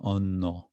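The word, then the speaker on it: অন্য: Anya, āno here, Bengali pronunciation, āno, is from Sanskrit, anya, other, so āno-kathā.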